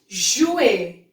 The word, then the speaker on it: jouer: Now next we have jouer. Jouer, which means to play. Now here the sound of J, it's je, like J. So it's jouer, which means to play.